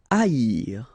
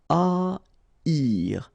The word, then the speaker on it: haïr: Haïr. Okay, so keep in mind that here you will pronounce it like I, haïr. First H is not pronounced, okay, so haïr.